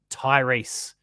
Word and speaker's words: Tyrese: Uh Shadu says, "Is that pronounced Tyrese or Tyrese?" It's Tyrese.